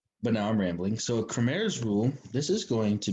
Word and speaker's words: Cramer: So Cramer's rule, and that's pronounced like Cramer, not Kramer, although I guess you can just say Kramer, especially if you're a big Seinfeld fan like myself.